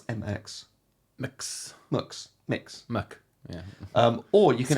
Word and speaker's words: Mx: options of Mr Ms or how do you pronounce MX mix yeah um or you can add your own